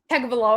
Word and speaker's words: Tagovailoa: Tagovailoa. There you go. Something. It's Taga something. Tagovailoa. Yeah. All right. So all eyes on Dolphins Tua as QB enters pressure-packed year 2 in Miami. So Tagovailoa.